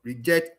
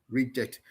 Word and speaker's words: reject: Noun version, stress on the first syllable. Verb version, stress on the second syllable. Increase and increase. Conduct, conduct. Insult, insult. So reject and reject.